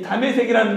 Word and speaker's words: 다메섹: 그런데 이 다메섹이라는 말은 히브리어 발음인 거예요. 히브리어 지명이 다메섹입니다.